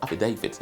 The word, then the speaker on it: affidavit: swear and affidavit okay how should i be correctly pronounced now say af david affidavit okay or you can also